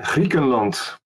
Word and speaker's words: Griekenland: Yeah, Griekenland.